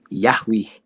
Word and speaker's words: Yahweh: guys pronounce that yahui and remember that hey is a consonant and we have to pronounce it no different than if it was yeah we everybody give it a shot let me hear you yahweh yahweh yeah so you notice that